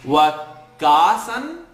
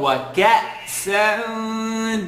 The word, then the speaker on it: وَكَأْسًا: وَكَاسًا or وَكَأْسًا دِهَاقًا. The kaf here it has a sukoon. So we're going to make, the kaf is being connected to a hamza with a sukoon.